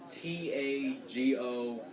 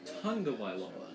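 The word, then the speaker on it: Tagovailoa: some how it's pronounced Tong of vioa as like you know like tongue like like your tongue like you bite your tongue tongue of Viola but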